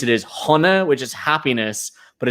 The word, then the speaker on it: Sona: name the whiskey bar which the way we pronounce it is hana which is happiness but it's spelled s-o-n-a so